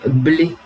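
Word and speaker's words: Blais: Alors Blé, ça s'écrit pas comme Stéphane Blé, ça s'écrit B-L-A-I-S.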